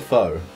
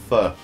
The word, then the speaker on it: pho: What is a foe? Joe. Stop laughing, I'm sorry, man. What's a foe, Joe? It's pronounced fur.